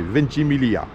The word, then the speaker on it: Ventimiglia: Alors le G en Italie, je crois qu'on ne le prononce pas, ce qui fait Ventimiglia.